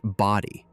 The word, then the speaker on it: Bodie: white stripes of the Bodie Island lighthouse. Almost everyone reads that name wrong in their head, but the locals will tell you it's pronounced body.